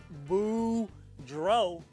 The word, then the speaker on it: Boudreau: everybody my name is boudreau that's pronounced boo dro and i'm here to